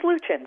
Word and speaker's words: Hluchan: It's Hluchan. First H is silent.